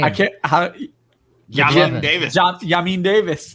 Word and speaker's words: Jamin: Yamin Davis. Yamin Davis. Oh, yeah, Jamin Davis. Not how you say his name.